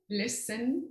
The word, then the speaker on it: LISN: Ahora ya no se puede pronunciar, before it used to be LINSI, and now it's LISN, el laboratorio LISN, we call it LISN, yes.